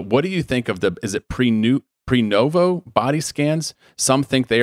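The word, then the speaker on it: Prenuvo: But what do you think of pre-novo body scans?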